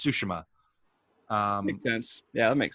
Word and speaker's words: Tsushima: other thing is that the game teaches you how to pronounce the the island's name uh you know so it's not uh tsushima it's sushima um intense yeah that